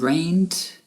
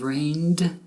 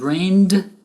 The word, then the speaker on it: rained: Now, if you said rained instead of rained, people will understand you if you pronounce it with a T ending instead of a D ending. But if you say rained with 2 syllables instead of rained with 1